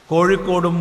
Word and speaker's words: കോഴിക്കോട്: നമുക്ക് വാഴയും കോഴിയും, കോഴിക്കോടും മൊഴിയും പൂഴിയും എല്ലാം വഴങ്ങും. പക്ഷെ മറ്റ് പ്രദേശത്തുള്ളവർക്ക് ഏറെ വഴങ്ങാത്തതാണ് ഴ. ഇന്ന് പരസ്യ ബോർഡുകളിൽ പോലും കോഴിക്കോട് കോയിക്കോടാവുന്നു. വികലമായ ഉച്ചാരണം ആരെങ്കിലും ചെയ്യുകയാണെങ്കിൽ വിരോധമില്ല. അത് ഉച്ചാരണ വൈകല്യമാണെന്ന് നമുക്ക് സഹിക്കാം, ക്ഷമിക്കാം.